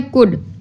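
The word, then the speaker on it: could: ओ यू एल डी कुड कुड में word L silent है ठीक है कुड में क्या साइलेंट है एल अब स्पेलिंग हम लोग पूरे लिखेंगे सी ओ यू एल डी कुड लेकिन एल नहीं बोलेंगे क्योंकि वह साइलेंट है ठीक है अब हम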